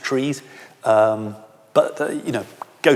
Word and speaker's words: trie: also trees spelt t-r-i-e which some people pronounce tries a try is also